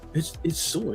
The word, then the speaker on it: Sawyer: It's Sawyer.